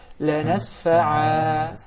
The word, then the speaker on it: لَنَسْفَعًا: But if we stop at it, the ruling will be totally different and will be مَدَّ عَوَضْ. And I will say لَنَسْفَعَا.